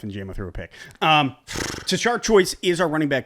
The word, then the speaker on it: Tashard: I think that Tashard, that is how you say his name.